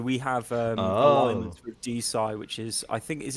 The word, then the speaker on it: DeSci: It's DeSci, so we have Oh. alignments with DeSci, which is I think is it decentralized science, I believe.